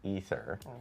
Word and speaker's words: Aether: And then we learned that Canon and Diablo I despite it being spelled AE t, it's actually pronounced ether.